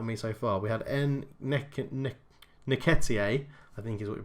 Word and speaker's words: Nketiah: So the other people on my targets list that have jumped out at me so far, we had Nketiah, I think is what you pronounce it.